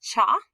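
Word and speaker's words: 茶: these two are not connected okay this is pronounced cha we usually have the honorific ocha because it's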